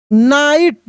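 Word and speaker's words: night: वन नाइट। यहां पे जी H silent है।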